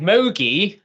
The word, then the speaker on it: MOGE: important personal question is how we should be um pronouncing Moi so let's have a so John unfortunately this occasion I think you have un sadly been outvoted and Moi is the winner at 46% so not a clear